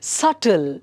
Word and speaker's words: subtle: So B is silent, subtle.